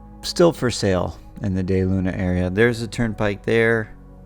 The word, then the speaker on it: DeLuna: at de luna and i know it says de luna but it is day luna pronounced de luna because it's whatever over spanish uh history i guess that's how